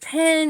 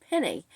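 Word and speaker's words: Pène: Is it Penny? Well, I may be wrong on both counts. It might be Penny with the accent on the first E, and that makes sense since that's where the accent mark is.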